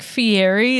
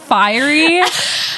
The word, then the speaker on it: Fieri: My gosh, what if you guys are like Fieri? Is that how you say it in Ohio? It's pronounced Ferrari. It's pronounced fiery, actually.